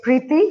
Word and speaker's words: Priti: you would call it it's actually in india you would say preeti but then in the